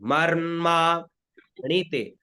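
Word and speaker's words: मर्माणि ते: सबसे पहले बीच का स्वर है मा पे तो ऊपर से स्वर उठेगा और मा में आ जाएगा बीच में मर मा ण ते ण में छोटी ई की मात्रा है तो इसका छोटा उच्चारण होगा ण और फिर ते ते मर माण ते ते में नीचे ठीक है मर माण ते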